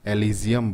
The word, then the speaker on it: Elysium: एलिजियम बोलते हैं। क्या बोलते हैं दोस्तों? एलिजियम।